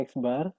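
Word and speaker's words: x̄: mirip seperti yang tadi eksbar ini bacanya eksbar = Sigma f *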